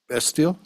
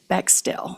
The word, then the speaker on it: Bextill: And it's Bestill? My last name is Bextill.